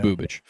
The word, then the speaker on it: Bubic: I'm going to figure out how it's actually pronounced. It's Bubich.